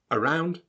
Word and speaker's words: around: About, around, again. The a sound that you read is actually pronounced as an sound, the schwa.